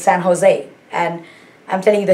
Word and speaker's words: San Jose: it's jalapeno so um remember it's not san jose it's san jose and i'm telling you